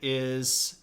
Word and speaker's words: Ai: This guy's name is Emperor I, and it's spelled A-I.